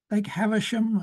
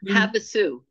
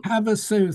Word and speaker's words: Havasu: Well, McCulloch dismantled it stone by stone and transported it to Lake Havisham, or something like that. I may have the name wrong because it's not in my notes. It's Havasu, Havasu. Havasu, thank you.